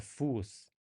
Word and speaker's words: Fuß: The sharp S, however, will not take the stress, and we have a longer U sound. Okay, der Fuß, die Soße.